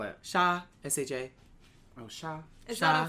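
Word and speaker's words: 杀: How do you spell it? Sha.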